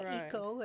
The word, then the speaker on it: Waco: But I think there's a wonderful focus there in the Helen Marie Taylor Museum on the Waco Indians, Right, or Waiko is the correct pronunciation. I've been taught, because these were the first dwellers Exactly.